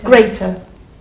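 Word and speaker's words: grater: the noun grer greater where's the strong syllable greater greater excellent well done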